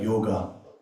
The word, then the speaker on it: yoga: So Amitab also has that small I at the end which is not supposed to be pronounced but we do right like yoga which is yog right.